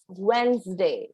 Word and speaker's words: Wednesday: hair pronounced wednesday wednesday yes wednesday d will be silent and when is dana